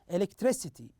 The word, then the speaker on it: electricity: syllable stress here with one example that is electricity electricity you notice the third syllable here is uh stressed more than uh the other syllables let's listen to one